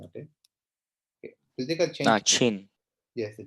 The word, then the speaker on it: Qin: Guys, we pronounce Qin like China, not Qin. Okay. Okay. Political change. Qin. Yes, the Qin.